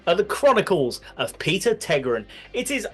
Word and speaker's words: Tägtgren: Anyway, boys and girls, put your hands together as we bring you the Chronicles of Peter Tägtgren. I've butchered that surname.